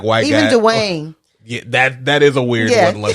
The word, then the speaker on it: Dwayne: It's like two syllables Dwayne.